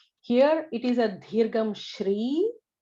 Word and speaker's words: Shri: So in that there is the Sa, Sha, Sha, and all 3 are very different pronunciations. So it is neither Sa nor Sha, it is the Sha. Shri with an R.